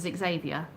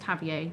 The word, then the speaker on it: Xavier: Xavier, who was, well, he was introduced to us as Xavier, but pronounced Javier when the family used his name.